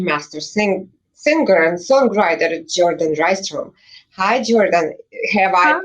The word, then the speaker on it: Rystrom: singer, and songwriter, Jourdan Rystrom. Hi, Jourdan. Have I Huh? pronounced your last name right? Yes, Jourdan Rystrom. You got it.